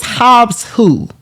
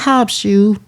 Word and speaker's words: Hobbs Who: It's not Hobbs Shoe. It's Hobbs Who.